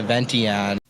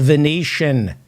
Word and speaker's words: Venetian: It's pronounced the Venetian. Oak Room at the Vention. You idiot. You should not be allowed to even look at a gun. It's the Venetian.